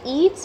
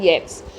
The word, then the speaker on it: Yeats: you must remember that the pronunciation is not eats but it is william butler yes he is popularly known